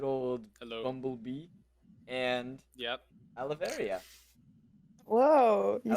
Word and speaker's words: Aloeveria: Aloeveria.